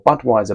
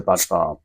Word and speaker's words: Budvar: of time a look okay so budar or Budweiser budf far as it's correctly pronounced um oh smells lovely we go uh